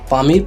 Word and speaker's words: Pamir: হিসেবে পরিচিত পামিল মালুভূমির স্থানীয় ভাষায় এর উচ্চারণ হচ্ছে পমির যার অর্থ হচ্ছে সূর্যের